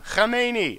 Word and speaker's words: Khomeini: I just love that name. Khomeini. That's how you say it.